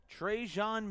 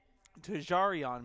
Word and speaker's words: Tarion: across into Bulldog territory trejan Miller or tjan Miller no let me let me say his name correctly Tarion Miller gets it into Bulldog territory